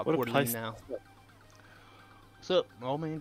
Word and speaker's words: Coeur d'Alene: I don't think that was Zach, too, when I was trying to pronounce it. Coeur d'Alene. There we go. I just call it Coeur d'Alene now.